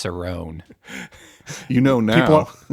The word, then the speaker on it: Cerrone: it make it happen that's why I pronounced it wrong I know it's Cerone you know now it's